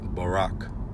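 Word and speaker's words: ברך: Baraka equals ni. And you have the Hebrew characters ba, ra and ka together make barak pronounced barak or ni which is also bless as well.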